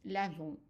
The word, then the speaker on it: lavons: And then for nous, we add in O and S, but the S is silent. And it's pronounced lavons, nous lavons.